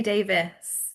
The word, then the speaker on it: Davies: Well, I say Davis. Davis, okay. But it is spelled Davies.